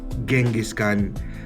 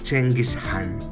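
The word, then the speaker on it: Genghis Khan: Gengiscan, it's not pronounced as Gengisan according to him and napapanood ko na rin naman sabi niya Chengis Han.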